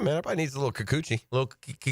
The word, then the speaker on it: Kikuchi: Everybody needs a little Kikuchi. Is that how you say it? Kikuchi? Kikuchi? Kikuchi, yeah.